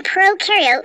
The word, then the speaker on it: prokaryote: like to remember that pro in prokaryote rhymes with no and you in eukaryote